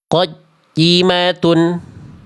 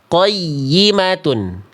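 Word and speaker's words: قيمة: Bacaan salah, ya tasydidnya terputus. Qajimatun. Seharusnya qayyimatun. Qayyimatun.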